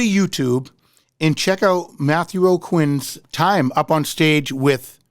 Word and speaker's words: Aucoin: and check out Matthew o'quinn's time up on stage with Bruce Springsteen and you spell his name his last name is a-u-c-o-i-n and it's pronounced O'Quinn and uh just type